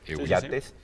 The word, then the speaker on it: Yates: Y eh hay un librín de Francis Jates, así se pronuncia, Yates, eh Yates del Club